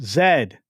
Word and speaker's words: zed: Says, "And it is pronounced zed, not zed.